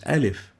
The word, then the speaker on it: alif: it's a vowel and it's like the a as in fast ah fast and the name given for this air as in fast is alif we've mentioned earlier that